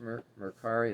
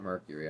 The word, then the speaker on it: Mercari: got this on mercari i think it's pronounced mercari it's not mercury i know that murkari that's how i pronounce it so i don't know